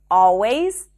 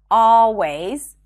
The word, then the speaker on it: always: next hack is that you don't have to pronounce the L in the words always all right and already it's not a mistake to pronounce the L but if you're struggling with the L just drop those sounds simply pronounce an ah sound right before always already all right